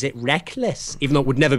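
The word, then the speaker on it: Rekkles: Rec so people always say ah but he pronounces it Reckless even though it would never be spelled that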